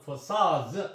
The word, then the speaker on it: facades: 근데 이제 복수형이 되어 있으니까 S가 붙으면은 D 음가는 탈락되고 발음은 facades 이렇게 해야 됩니다.